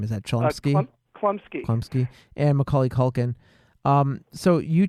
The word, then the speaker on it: Chlumsky: Chlumsky and Macaulay Culkin.